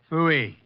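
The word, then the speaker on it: Pfui: Fooey. It can be spelled in several ways. I spell it P-F-U-I.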